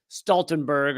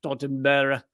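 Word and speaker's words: Stoltenberg: the head of NATO Stenberg although I guess it might be pronounced stalen bur or whatever wherever he you know where where he's from but uh this interviewer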